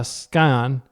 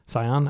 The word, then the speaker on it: Scion: That immediately uh no, we cast this the uh skyion. Scion. I think it's pronounced scion. The sea silent.